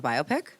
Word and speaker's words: biopic: What is that not the biopic? Hm. What's the biopic? A biopic is pronounced biopic. No, you're thinking of biopsy like a like a cancer diagnosis.